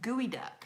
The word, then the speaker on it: geoduck: either so Megan said geoduck is pronounced gooey duck oh it's kind of